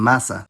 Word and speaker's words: massa: If an intervocalic S is single, it’s pronounced [z], like in casa, but if it’s doubled, then it’s pronounced [s], like in massa.